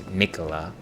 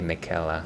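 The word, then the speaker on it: Miquella: And of course, the right way to say it is Mikola, but I like to say Michaela, I don't know.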